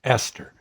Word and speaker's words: Estar: And I said, "Well, her name is Sunshine, Sunshine Estar, and sort of like you pronounce it Sunshine Esther."